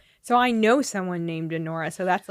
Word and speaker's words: Anora: I have the the it's spelled a n o r a it's a Nora uh it's a 2024